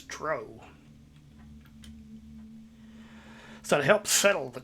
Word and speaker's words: drow: I realize, of course, that the widely accepted pronunciation of the word is drow. However, back in the early days, we always pronounced it as drow.